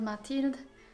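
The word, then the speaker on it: Matilde: pronounce it it's spelled matild and it was named by a belgian guy who speaks french so in french it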